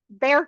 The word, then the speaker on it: Bexar: San Antonio, City of San Antonio, San Antonio ISD, Alamo College, uh Bexar County, and for those of you not in Texas, that is pronounced "bear", and VIA Transportation.